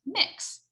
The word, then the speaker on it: Mx: popular one right now is mx and that's pronounced mix m i x uh and you can use